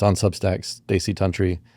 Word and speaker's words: Tunteri: Stacy Tantry. Spelled not like you would expect. How do you spell? Terry. Tu n T E R I. Pronounced tantry.